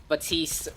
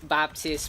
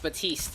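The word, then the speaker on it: Baptiste: people we can invite batiste Baptist batiste it's called the t's the P is silent guys you know but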